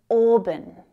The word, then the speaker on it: auburn: It's the same vowel sound as or in door. Door. Auburn. Auburn. So you can hear it has two syllables. Auburn. And the first one is the stressed one. The second one reduces to the schwa.